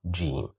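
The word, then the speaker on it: ج: G looks like a mixture of uh the sound D and the sound J. We mix them together to make this sound G.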